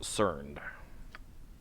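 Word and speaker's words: Cernd: I've seen his name before, and I was honestly not expecting it to be pronounced Cerned.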